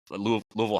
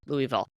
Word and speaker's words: Louisville: and I was like, "It is not Louisville." I mean, it's like Louisville.